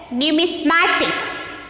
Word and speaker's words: numismatics: Numismatics. How to pronounce this?